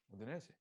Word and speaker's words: Udinese: last, How do you pronounce Udinese? Like as an Italian, how do you say Udinese? Udinese.